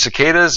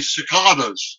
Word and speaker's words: cicada: pronounce the cicadas is cicadas or well if you're british like uh david attenborough you say cicadas all right but if